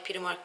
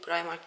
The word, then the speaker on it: Primark: şey almadım Bu arada primark dediğimde Hayır primark değil primark diyenler oluyor Almanya'da da primark diyordum Arkadaşlar ben çünkü Almanya da okunuşunun primark olduğunu biliyordum o yüzden orada primark diyordum ama buradaki okunuşu primark Hatta bugün görüştüğüm Pelin